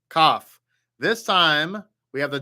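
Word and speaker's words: כף: So the Kaf without the dot makes the guttural sound like Chaf. You have to Chaf. But with the dot in the middle, it makes a K sound, a hard sound like K. Just K, like, Kellogg's.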